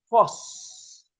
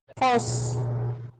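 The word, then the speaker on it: φῶς: Por cierto, la palabra luz se dice en griego phos. ¿Me escucharon? ¿Cómo se dice en griego? Fos. ¿Cómo se escribe? F-O-S. Fos.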